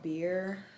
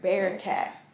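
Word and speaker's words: Bearcat: couple blocks from here it's called beer keep saying it wrong bear bear cat keep saying beer cat it's a vegan friendly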